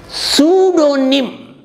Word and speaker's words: pseudonym: o sudo means false his secularism is sudo sudonim pseudonym p-s-e-u d-o-n-y-m some writers or poets will